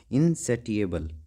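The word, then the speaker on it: insatiable: तुम एक बात बताओ महब जी इनबल सॉरी इनसेबल ठीक है इसको ऐसे ही करना है इसकी प्रोनाउंसिएशन अलग है मेरे को पता है इनसेटिएबल ठीक है ये याद करना इनसेटिएबल डिजायर फॉर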